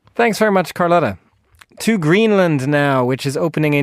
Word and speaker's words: Greenland: To Greenland now, which is opening a new parliamentary session this afternoon and could be headed for early elections.